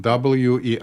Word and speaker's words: Weizenbaum: The person who was in charge of this lab, his name was Joseph Weizenbaum, W-E-I-Z-E-N-B-A-U-M.